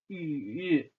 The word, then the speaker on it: 雨: So when it rains, we say 雨, rain, 雨.